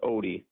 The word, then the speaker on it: Odde: And Parker, did I get it right when I said the Audi family? So, it's actually pronounced OD, but OD.